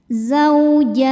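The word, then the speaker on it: زَوْجَانِ: Ketika berhenti di jan, hukumnya adalah mad arid li sukun. Karena mad tabi'i bertemu dengan huruf yang disukunkan karena waqaf. Mad tabi'inya fathah panjang pada huruf jim, huruf yang disukunkannya nun. Maka jimnya ini panjang, boleh 2, boleh 4 atau 6 harokat asal konsisten dalam satu kali baca.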